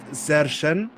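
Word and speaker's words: Sršeň: fellow Czech person, that it's actually pronounced Sergen, meaning hornet in Czech. Sergen. Sergen. Sergen. More like a Z, sort of.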